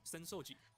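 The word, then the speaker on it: 浅草寺: Asakusa, except it's pronounced Senoji.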